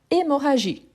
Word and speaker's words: hémorragie: Ensuite, on a hémorragie. Hémorragie. H muet ou H aspiré. H muet ou H aspiré. Hémorragie. H muet ou H aspiré. Voilà, H muet. L'hémorragie.